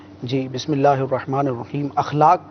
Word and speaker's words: اخلاق: جی، بسم اللہ الرحمن الرحیم۔ اخلاق کا جو لفظ ہے، الف کے اوپر زبر آئے گا، اخلاق نہیں اخلاق، جی یہ تلفظ میں غلطی کی جاتی ہے۔ اخلاق، اخلاق خلق کی